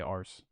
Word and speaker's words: arse: But I also just would never say arse.